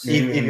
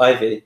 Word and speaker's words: Evie: Evie Oddly, yeah. Ivy? Yeah. Oh, it's not Ivy. No, because Scarlet. Oh. Wait. Scarlet Ivy. Evie.